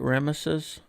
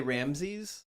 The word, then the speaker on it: Ramesses: Is that how you pronounce it? Ramesses? A lot of people just say Ramses. Well, they're wrong.